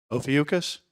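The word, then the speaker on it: Ophiuchus: uh 20121 S3 is getting brighter it's in oakus did I pronounce that right Chris oakus did I pronounce oakus right ucus okay ucus all right well all right so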